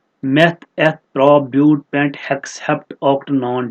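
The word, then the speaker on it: but: जिसमें 4 carbon atoms होते हैं उसको हम लिखते हैं ब्यूट। इट is written as बट, ब्यूटी बट pronounced as ब्यूट।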